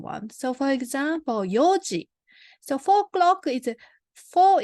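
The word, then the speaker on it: 四時: a simple one and then there are irregular pronunciation ones so for example Yoji so four clock is four itself is Yom but we don't say yonji we pronounce as Fuji Yoji then so seven o'clock is not an energy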